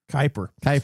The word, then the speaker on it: Kuiper: How do you pronounce it? Is it Kuiper? Kuiper.